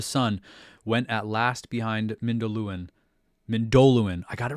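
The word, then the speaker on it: Mindolluin: Then the sun went at last behind Mindoluin, I got it right, one of the pronouncing things. Mindoluin, and filled all the sky with a great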